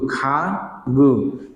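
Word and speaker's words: 가구: খা গু। তাহলে খাগু মানে কি? ফার্নিচার। গিয়কে আ গা গিয়ক উ গু খাগু, খাগু মানে কি?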